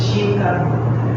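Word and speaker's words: жінка: And the stress is on letter E, so it's Zhinka.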